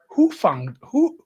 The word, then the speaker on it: Hufanga: It's Hufanga. Really? So he capitalized who. Like that would be the accent. Hufanga. What was I saying? I don't Hoofa? know, I was saying Hoofan. Oh, Hufanga.